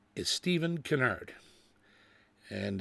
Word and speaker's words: Kinnaird: his name is Steven Canard and it's the Irish spelling k i n n a i r d but they pronounce it Canard that's a good Southern